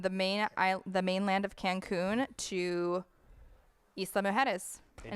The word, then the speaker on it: Isla Mujeres: how to pronounce it. Isla, which is Isla. Isla. Isla, right? Isla, yeah. Isla. Mujeres, which means island.